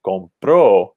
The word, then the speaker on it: compró: But when we shift the stress to the second syllable, compro, we have to put an accent mark over the O, and it actually changes the meaning.